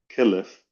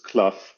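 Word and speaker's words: קלף: also they must be written on what's called kelliff or sometimes in modern pronunciations kluff which is actually a bit incorrect because we'll explain why in a minute.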